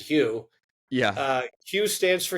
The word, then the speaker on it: Hu: stands for human yep a lot of people call it who um despite our best efforts to get you to pronounce it Hugh yeah uh Hugh stands